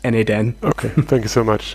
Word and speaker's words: n8n: a lot of people should i call it na10 should we call it notemation so we just made it expeditious like pronounced na10 okay thank you so